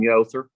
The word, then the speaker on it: Yother: Yother, you can just tell me if I'm right or wrong. Tatum Yother. Yother, okay.